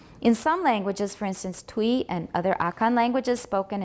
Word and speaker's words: Twi: All right, Twi we've been saying, but actually it looks like it should be Twi. Twi.